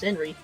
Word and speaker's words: Senri: Well, my name is pronounced Senri, but the kanji are different.